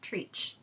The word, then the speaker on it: Treach: Moving on to Ballad of Songbirds and Snakes, we have Lamina and Treach. Let's just be real. Treach speaks for itself. There is no explanation that is needed here. It's trees. Tree, CH, Treach.